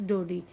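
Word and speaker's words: Daudet: author अल्फास डोरी okay T T word इ silent here तो यहां पर जो टी वर्ड है वह साइलेंट है the pronunciation you will use अल्फास डोड 1840 उनमें उनका जो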